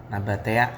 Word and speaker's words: Nabatea: Nabatea ya gitu deh bacanya.